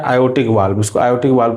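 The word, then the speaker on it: aortic: आयोटिक। क्या होता है? आयोटिक वाल्व आर इसमें साइलेंट हो जाता है। इसलिए इसको हम क्या बोलते हैं? आयोटिक वाल्व बोलते हैं।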